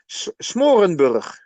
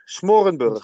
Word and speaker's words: Smoorenburg: In Dutch we say Smorenburg, Smorenburg. yeah, and I couldn't do this Yeah, every time.